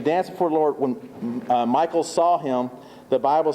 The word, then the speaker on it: Michal: Michal, M-I-C-H-A-L.